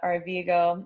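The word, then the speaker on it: Arvigo: cool so we'll um so it's can you spell it for me a i don't want to guess a-r-v-i-g-o it's rosita r-vego it's her last name so they are vigo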